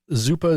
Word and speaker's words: zuppa: that's about right yeah yeah there's yep yep zupa z-u-p-p-a is zappa this was spelled z-o-o-p-a though it's it's pronounced zupa and so it is the same word it's